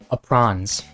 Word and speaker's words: aprons: I was reading that verse, and instead of aprons, I read it as they sewed themselves aprons. Because I was young, and I apparently didn't know how to pronounce aprons, so I said aprons. Sounds like a very posh, fancy way of saying apron.